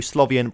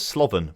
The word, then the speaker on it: Slovan: really want to do Slav Ian Bratislava although I've just seen here it says Slovan Bratislava not Slav Ian so I'm saying it wrong apologies Slovan Bratislava we'll